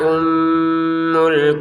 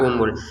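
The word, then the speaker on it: أُمُّ: Nun bertasydid, mim bertasydid. Ini lagi ngumpul. Jadi nun bertasdid, mim bertasydid kita dengungkan hunna ummul situ ya. Jangan hunna umul.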